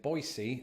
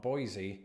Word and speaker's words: Boise: Firstly, that locals pronounce it Boise and not Boise, and also that in the states of Idaho and Utah exists a condiment known as fry sauce.